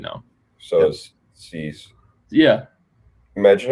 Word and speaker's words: Cease: Dylan Cease.